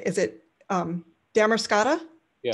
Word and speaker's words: Damariscotta: It's just outside, how do you say, is it Damariscotta? Yeah. Damariscotta, Maine.